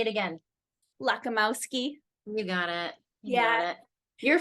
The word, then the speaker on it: Lakomowski: yeah you did really good say it again lakamowski you got it yeah you're from you're from